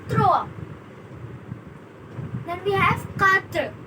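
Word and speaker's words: trois: It's not thrice, it's throw.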